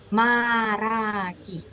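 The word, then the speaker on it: 말하기: sebagai maragi. Tulisannya malhagi, dibacanya baragi.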